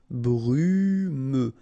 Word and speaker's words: brumeux: Brumeux. Brumeux. Free. Final T not pronounced.